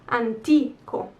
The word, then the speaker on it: antico: ki for example palazzo antico where's the accent anti ko so this i that comes before the o so it's the last vowel before the last one antico so e palazzi antiqui